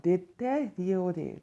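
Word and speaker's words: détérioré: Deteriore. Deteriore. That's the better pronunciation. That's the exact pronunciation.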